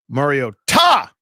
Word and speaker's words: Mariota: We We were mispronouncing his name. So, here's what I said. MARIO TA the broadcast team tonight.